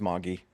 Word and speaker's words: Magi: So one of them was King Armakin from Magi. I don't know, Oh however yeah, people pronounce it. pronounced Moggy.